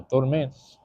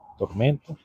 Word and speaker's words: tormenta: No, that's not how you say it. Tormenta.